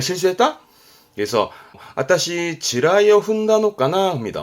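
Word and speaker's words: 地雷: 발음은 지라이, 지레의 지라이입니다.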